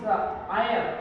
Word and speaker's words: heir: But he, what about his heir? H-E-I-R. How do you say that? This is H is silent here. Okay, heir.